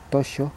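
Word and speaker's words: toxo: llama tocho se llama aquí en Gallego t o x o tocho se pronuncia y esto pinchado de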